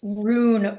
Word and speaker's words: Rune: Um, I think it's rune race, like a rune. Rune. What am I saying? Ruin, Rune, not ruin, like Rune.